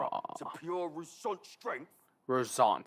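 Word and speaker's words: Roussainte: Rosant, that's how you say it.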